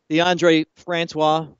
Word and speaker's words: DeAndre Francois: You remember DeAndre Francois?